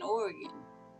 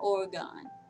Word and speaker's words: Oregon: wrong this whole time I've been saying organ not Oregon no I have that